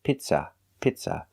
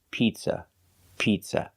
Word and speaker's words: pizza: say pizza that's right we don't say pizza pizza the word is pizza pizza the first vowel is a long e like green beans P Pizza we don't use the short sound I like milk it's not pizza it's P Pizza the second syllable is not stressed it's pronounced with a relaxed uh Pizza piz use a relax uh like cup and up it's not pizza